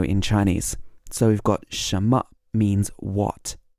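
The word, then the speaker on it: 什么: Chinese so we've got Shama means what Shama sounds almost like Shama Shama you can't really hear the N in the middle but Shama what then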